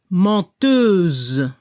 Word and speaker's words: menteuse: La pronunciación para el masculino se escucha un poco la R al final, menteur, y al femenino se debe escuchar la Z al final. Y no se pronuncia la E, menteuse.